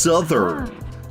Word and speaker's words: southern: It's like, bro, but it's the word south and then you just add the N, but oh no, now it's pronounced southern. But like, what happened to the O? What happened to the O? Why don't you say that anymore?